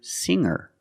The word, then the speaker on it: singer: And I can change sing to singer. When I change these words with ER, I don't pronounce the G sound. It's just the nasal linked together with the Together, hanger, hanger. There's no G sound.